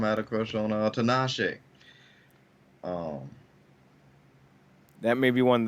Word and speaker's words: Tinashe: Tinashe, like Tina she, but Tin.